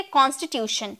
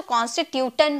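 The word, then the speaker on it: constitution: ये आपको TION दिख रहा है ना, तो बहुत लोग इसे टन में प्रोनाउंस करते हैं, क्योंकि ट का साउंड टर्म, टी का साउंड ट में निकलता है ना, तो कॉन्स्टिट्यूटन कहते हैं, लेकिन ऐसे कोई बात नहीं है, इसे हम प्रोनाउंस करेंगे शन में। ओके, हम इसे प्रोनाउंस करेंगे शन में। शन में हम बोलेंगे कॉन्स्टिट्यूशन।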